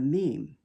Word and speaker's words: meme: of mimetics is the the meme rhymes with team. Yet unlike an atom or an electron, the meme has no physical properties.